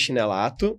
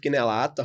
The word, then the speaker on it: Chinellato: Eu falo chinelato porque é assim que se escreve, tá, gente? CHINELLATO. Certo? É Dr. Lucas Chinelato. Pode falar chinelato que tá tranquilo. É o que a gente chegou à conclusão que o chinelato não combina muito com ele.